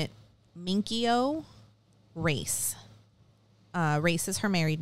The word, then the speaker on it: Racz: Race is her married name. It's R-A-C-Z. And I'm like 99.999% that it's pronounced race. Like you're going to. That makes sense. You're going to race. Yeah.